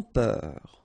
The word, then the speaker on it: peur: Sans peur. Okay, pronounce the final R, E-U-R, heure, peur.